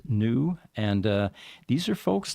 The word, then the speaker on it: NXU: from new nxu the the x is silent and the x is actually an infinity symbol I found out oh okay but uh it is pronounced new and uh these are